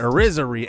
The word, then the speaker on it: Irizarry: And Tom Irizarry, that's how you say it, Irizarry ends up being 74 overall in C potential.